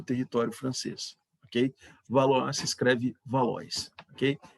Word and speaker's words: Valois: família valor a sobre o território francês que valor se escreve Valois que E aí vamos a transição